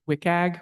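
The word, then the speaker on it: WCAG: Yeah, so we're calling it the um the consensus is to call it Wickag, which is I know just a terrible acronym to pronounce, but um but basically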